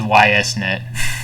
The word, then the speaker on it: YSNet: No, Okay. it's YSNet. YSNet. Okay, Yeah, yeah, I it's was not like pronouncing it like East. yeah, It's not game. like East like the RPG games. Yeah, YS like it's Y. Suzuki.